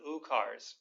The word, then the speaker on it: Ukar: With this full yogic breath, you'll let out an oo, the middle syllable of Om, for the entire duration of that breath.